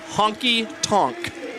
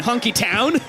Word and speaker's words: Honky Tonk: saying it because I I was like split between Honky Tonk and honky town it's not honky town it is not honky town Honky Tonk Honky Tonk yeah only